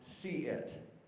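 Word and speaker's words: CSE-IT: CSEIET, pronounced see-it, which actually makes a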